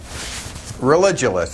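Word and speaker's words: Religulous: name of your movie it's religionist it's like you're staying Rel and then you go to ridiculous for obvious reasons well speaking of which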